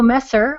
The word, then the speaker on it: Messer: I have Messer on the line, and perhaps I mispronounced your name.